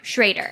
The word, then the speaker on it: Schrader: pronounce his name uh john schroeder schrader schrader which we learned yeah we pronounced it schroeder for so long so he describes